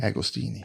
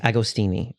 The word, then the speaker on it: Agostini: how do you say your last name again agostini agostini okay that taught High School US history for